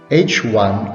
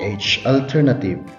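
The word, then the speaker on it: H₁: subscript 1 or a which is pronounced as h1 or h alternative so non-hypothesis is a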